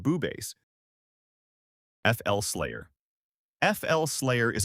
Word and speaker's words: BooBass: But some mature people on YouTube pronounce the name as Boobass, and it's likely explicit or sensually offensive. Despite its popularity, it remains available in FL Studio and is commonly pronounced Boobass.